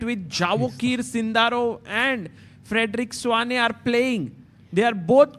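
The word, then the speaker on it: Svane: How do we pronounce his surname, by the way? Frederick Swane, everybody Swane.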